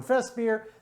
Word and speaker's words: Festbier: They call this one Festbier. That is aptly named, and they do spell it properly, B-I-E-R. I before E in German makes an E sound. E before I makes an I sound.